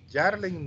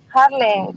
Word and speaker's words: Harlen: Harlen o Yarlen, no sé, creo que debe ser Harlen. Giovanna Urrutia. Presente. ¿Cómo se pronuncia tu nombre? Harlen. Yeah. Harlen, perfecto.